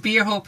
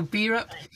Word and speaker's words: Bierhope: because i was think i was calling it beer hope earlier so beerup is is with us and